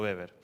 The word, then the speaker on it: Weber: preguntarán Por qué digo beber si se escribe Weber básicamente porque como él es alemán la W se pronuncia como la B por eso me van a escuchar que le digo beber lo último tipo de